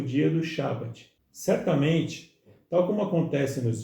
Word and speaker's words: Shabat: Por isso a pronúncia Shabat, que para o português se traduz como sábado, cujo significado é descanso.